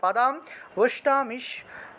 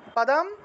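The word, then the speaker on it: পাদাং: লাসাত পাদাম এখানে দেখুন এই যে পাদাম ম আছে ম উচ্চারণ হবে অনেক সময় এই জায়গায় অনুস্বার থাকে অনুস্বার থাকলে ম উচ্চারণ করতে হবে পাদাম পাজাম পাদাম ভুজাম মিষ্টদান বিষ্ণদান আচ্ছা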